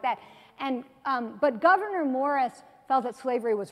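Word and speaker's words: Gouverneur Morris: except his name looks like it would be pronounced governor you're like that but it's actually governor Morris he had lost his leg he had part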